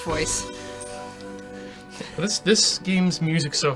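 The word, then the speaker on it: Voez: than uh V or I shouldn't pronounce it's pronounced voice this this game's music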